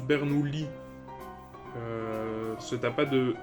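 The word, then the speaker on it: Bernoulli: semble que on prononce bernoui euh ce tuas pas de i devant les deux es donc ça il me semble que c'est bernoui qu'on qu'on prononce ok bah désolé puis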